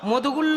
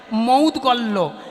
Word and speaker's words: মৌদগল্য: মৌদগল্য দেখি কারা কারা মধুগুল্য বেশ হাঁ বাবা মধুগুল্য নয় উচ্চারণটা হবে মৌদগ ময়কায় দয়গায় হাসন্ত লয়াইজা ভালা খুব ভালো করে শুনবেন মৌদগল্য এটা আমরা সচরাচর মধুগুল্য বলি কেন জানো মা